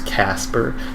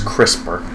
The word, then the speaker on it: CRISPR: Are you telling me I shouldn't use Casper to have my... It's CRISPR. CRISPR? Yes. CRISPR just sounds like a chip.